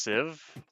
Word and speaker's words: sieve: there I get saplings it's pronounced sieve but there's an e why is it pronounced sieve if there's an e what is wrong with English in that regard unless it's not English I'm not crazy right there was an e right yeah there's an